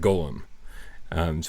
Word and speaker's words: Golem: The game is called, pronounce it Golem. Because a golem is a real thing, right? Which the things in the game are golems, so it's definitely golem, yeah, right.